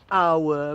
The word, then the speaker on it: hour: I mean, the H is never pronounced, such as hour. So it's an hour, because we don't pronounce the H.